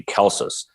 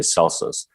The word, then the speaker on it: Celsus: Why would Celsus, because the way you pronounce his name in the Latin would be Celsus, but in modern English we say Celsus.